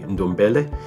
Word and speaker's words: Ndombele: going to be good, but I believe it's pronounced Ndombele.